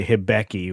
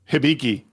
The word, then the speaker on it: Hibiki: and and and I I I can't I can't wait for my habi when we get to San Antonio. It's pronounced hibiki.